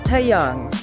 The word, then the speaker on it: Taeyang: be talking about some comments that big bangs tyang made in a recent CNN interview that's tayang right yeah tayang just for pronunciation exactly yeah it's it's always tricky with